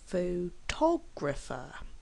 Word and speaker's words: photographer: the first syllable photograph photographer has four syllables and we actually stress on the second syllable f photographer photographic has four syllables